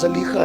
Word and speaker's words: زلیخا: زلیخا، اصل تلفظ زلیخا ہے، لیکن کچھ لوگوں کو تھوڑا سا بار پڑتا ہے اس لیے زلیخا ہی کہتا ہوں۔ زلیخا یوسف کے لیے